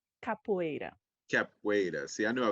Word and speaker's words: capoeira: correct me if i'm wrong uh capra capera capriera capoeira capoeira see i knew i was gonna say